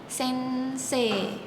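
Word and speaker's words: 先生: Di Jepang kalau huruf e bertemu huruf I, dia akan menjadi bunyi E panjang. Jadi bukan gakusei tapi gakusi. Gakuse sama seperti kata em bahasa Jepangnya guru yaitu adalah sense. Jadi bukan sensei tapi sense panjang sense. Oke kita lanjut ke mahasiswa.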